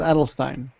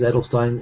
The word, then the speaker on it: Adelstein: I know I noticed in Japanese it's adelstein and you know what on The Daily Show he was introduced as ADL Stein and I'm guessing that they wouldn't have mispronounced his name was he so I'm G to go to ad Stein I'm switching that now